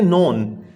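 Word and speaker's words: known: ही वॉज नोन, अब इसमें बच्चों आप देखेंगे तो ये खा साउंड यानी के जो है ये साइलेंट है, हम करते हैं नोन, के नहीं पढ़ते।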